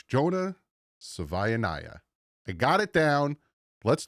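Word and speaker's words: Jonah Savaiinaea: Just like Tuongoa, just like Noah, just like if Melanu, it's Jonah Savvya.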